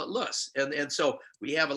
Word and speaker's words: loess: silt, or loess, L-O-E-S-S, the one geological term that has more pronunciations than any other ones. If you go back to Germany, windblown silt is called loess. If you go to the south, we call it loess or loess.